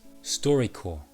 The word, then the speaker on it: StoryCorps: six podcasts themselves so the first podcast is story core story call notice the p is silent now each episode of storycorps is a